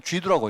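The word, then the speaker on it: 基督: 그리고 중국 사람들은요 그냥 이 기독을 그냥 그대로 우리는 기독이라고 읽는데 그 사람들은요 한자로 기독이라고 써놔놓고 그건 쥐두라고 읽습니다.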